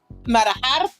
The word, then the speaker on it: manejar: Manejar. Okay, you gotta roll your R a little bit.